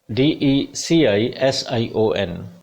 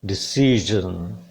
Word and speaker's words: decision: 19th word is DECISION, it will be pronounced as decision, decision, decision। S सा sound पे primary stress है। This sound is the mixture of सा and za sound।